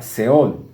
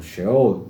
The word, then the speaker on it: Sheol: En hebreo se usa seol o sheol, como lo pronuncian ellos.